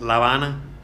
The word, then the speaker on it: La Habana: In English, it's Havana. You know, in Spanish, it's La Habana.